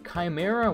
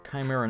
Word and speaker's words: Chimera: this one's not bad the Chimera which I used to by the way when I was good pronounced Chimera it's not it's Chimera or Chimera whatever yeah it seems